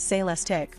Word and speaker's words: Celestiq: two motor AWD system the celestic pronounced sales Tech will be handcrafted at